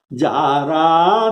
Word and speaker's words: जारा: जारा नगरु, जारा यह अवध भाषा में ल को र उच्चारण किया जाता है। जाला नगर के बदले जारा नगर।